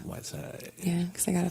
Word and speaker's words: Wydesyde: Spell it so people say it right. I know, right? Everybody does it wrong. It's WYDESYDE. Whiteside. Whiteside.